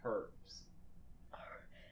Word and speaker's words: herbs: Maybe what they did is they just have vodka and then they just soak it in herbs. did you just pronounce the H? Herbs.